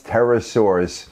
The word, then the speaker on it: pterosaurs: fly they were once pterosaurs a kind of dinosaur the P is silent and the big ones